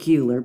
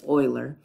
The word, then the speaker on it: Euler: known as Oiler and it is pronounced Oiler it looks like uler but it's Oiler all right and an